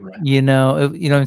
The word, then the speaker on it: Moira: Is it Mora McTaggart? Moira.